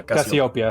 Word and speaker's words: Cassiopeia: Is that how you pronounce it? Yeah, Cassiopeia.